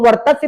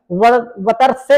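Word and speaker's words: वर्त्स्य: ला की बात करते हैं, ला तो ला में ला को भी वर्ग वर्तस्य हो गया, इसको वर्तस्य पढ़ा जाता है भैया, वतर्स्य नहीं पढ़ा जाता है, वर्तस्य पढ़ा जाता है।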